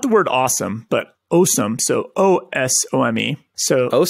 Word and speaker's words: Osome: Okay, I'm guessing it's awesome, right? That's how you would say it. It's got to be. You wouldn't say awesome. No, it's awesome. Yeah, it's awesome, but it's spelled with an O.